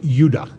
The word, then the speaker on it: Judah: more properly pronounced anounced udah because we didn't get the harder sound to the J until about 200 years ago so this is what